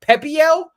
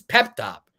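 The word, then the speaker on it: Pepiot: It's apparently it's French or something like that. Pepio, whatever his name is. This is Pep Top.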